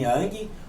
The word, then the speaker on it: Yang: Yang, embora ele tenha G no final, não se pronuncia o G. É Yin e Yang. Yang, sem a pronúncia do G.